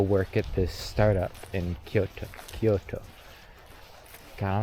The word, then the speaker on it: Kyoto: It's like Kyoto or something like that is the actual pronunciation because there's a U in there. It's Kyo, and then it's the U sound, the U, and then the to, Kyoto.